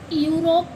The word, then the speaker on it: यूरो: तो इसको हम क्या पढ़ेंगे? इओ नहीं पढ़ते ना? क्या पढ़ते हैं इसको हम? यूरो। क्या पढ़ते हैं इसको? यूरो।